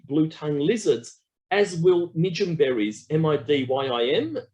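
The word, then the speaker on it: midyim: attract um the blue tongue lizards as will medium berries m-i-d-y-i-m medium is how it's spelt medium berries they taste also beautiful it's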